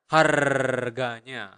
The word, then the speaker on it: harganya: Remember, in Bahasa, you really pronounce the R, so you need to roll your tongue and make that sound. Harganya, harganya. Okay, not like price.